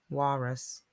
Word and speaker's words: walrus: add more words like walrus which has our aw I mean our Al which is pronounced R so while Russ walrus we can also add Walnut